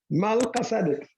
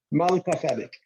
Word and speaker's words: Melchizedek: Malkasadik. I'm saying it the Melchizedek. way we would say it in Amharic. It's not exactly the Hebrew, but it's easier Amharic. to pronounce. Malkasadik.